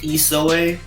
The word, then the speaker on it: Isowe: We got musical prodigy, 15-year-old Keegan Isowe. And did I say it correctly, my friend? You were close. It's Isowe, but it's better than what other Isowe.